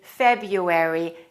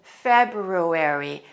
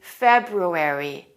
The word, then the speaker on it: February: sometimes mispronounce it because there are two r's and they're difficult to say together you will often hear native speakers say february instead of february it should be february you should pronounce both of those r sounds let's say them again